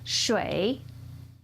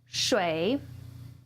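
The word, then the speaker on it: 水: Our first is pronounced shui, shui, and that means water.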